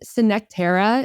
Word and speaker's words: Synctera: But we also see, is it Synctera? Is that how you pronounce it? Synctera, yep. I never know.